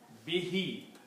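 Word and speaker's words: بِهِ: But when you recite be with who the who is pronounced as he behe.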